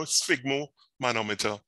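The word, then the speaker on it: sphygmomanometer: fixer right right so fig you know say pronounce it as fig you know sigmo manometer right and this is used uh the invitable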